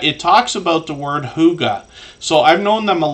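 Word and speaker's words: hygge: one yet but it talks about the word Huga so I've known them a long time so it's pronounced h o o g a Huga but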